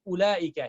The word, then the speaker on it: أولئك: Like ulaika, here wav is a silent letter.